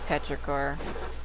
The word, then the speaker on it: Petrichor: Depths that I didn't get yeah it is petor I thought I was saying it wrong I